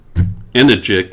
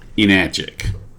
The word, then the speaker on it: Enagic: something weird okay and the company name is energic and not enagic okay and just because you like to say enagic rhymes with magic doesn't mean that's the pronunciation of